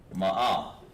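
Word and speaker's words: מאה: Ma'a.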